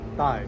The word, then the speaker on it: Tai: So normally people that lives here, like American, they'll call me, like the bow tie. But the way I pronounce my actual name is Thai, like the body part.